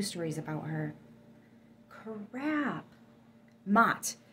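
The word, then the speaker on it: Maat: Mott. That's it, Mott. And it's spelled M-A''A''T.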